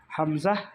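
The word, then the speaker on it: ح: এই হরফ দুটো উচ্চারণ করার সময় পেটও শক্ত হয়ে যাবে, তাহলে সঠিক উচ্চারণটা বের হবে। চাপ দিয়ে গলায় টিপে ধরলে যেরকম শব্দ হয়, যে আমরা শব্দ করতে চাই কিন্তু বের হচ্ছে না, ঠিক ওইভাবে চেপে উচ্চারণ করতে হবে।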